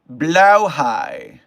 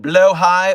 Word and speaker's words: Blåhaj: In Swedish, the shark plushie is pronounced blauhaj. The A sounds like a long O, as in floor or more, so floor, blå. And the J makes a Y sound. Blauhaj. Common anglicized versions include blowhigh or blahaj.